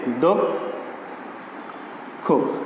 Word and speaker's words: দক্ষ: তাহলে শব্দের আদ্য অয়ের পরে ক্ষীয় থাকলে সে অয়ের উচ্চারণ ওকারান্ত হয়। আচ্ছা, উদাহরণ দেখি। দক্ষ, এই যে আমরা দক্ষ শব্দটা লিখছি, আমরা শব্দটার সঙ্গে আছে অ, উচ্চারণ হওয়ার কথা ছিল দক্ষ, কিন্তু আমরা উচ্চারণ করছি কিন্তু এভাবে দক্ষ। তো আমরা গত ক্লাসে জেনেছিলাম